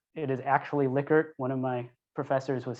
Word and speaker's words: Likert: pronounced uh dr licket liquor it's name is pronounced liquor everybody seems to say lyker it is actually likert one of my professors was his student she